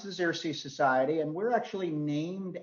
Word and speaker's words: Xerces: tell you just a tiny bit um it's pronounced the xersea society and we're actually named after the first